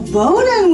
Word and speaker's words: Bodden: Joshua Snyder and we have the amazing Alonso bonan with us this week thank you for saying